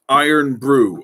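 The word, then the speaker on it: Irn-Bru: the uh the scottish i have not spelt that wrong that is pronounced iron brew it's orange it tastes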